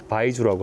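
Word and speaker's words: 白酒: 중국에서 만들어진 증류주들 대부분 하얀색이기 때문에 백주라고 하고 중국 발음으로는 바이주라고 합니다.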